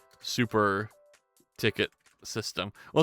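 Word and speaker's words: Tickit: But that's spelled like T-I-C-K-I-T. So like you do like ticket.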